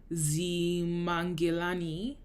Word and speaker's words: Ximangelani: And finally, there's also a style called Zimangelani, which is spelled Ximangelani, and it means wild bird, spotted, black, and white.